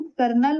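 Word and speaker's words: colonel: चौथा है कर्नल। Pronoun कर्नल होता है। लिखते हैं कॉलोनिल।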